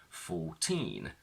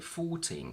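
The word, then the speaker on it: fourteen: that in Tina numbers when they're on their own the stress is on teen 14 19 but when they're followed by a noun the stress shifts to the front and we say 14 cats 19 cats the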